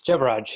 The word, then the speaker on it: Jebaraj: Jebaraj, did I pronounce that right? It's Jebaraj, yeah.